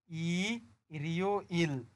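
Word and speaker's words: 일요일: তো রিউলটা যদি এখানে চলে যায় তাহলে এই শব্দটার উচ্চারণ হবে ই রিও ইল।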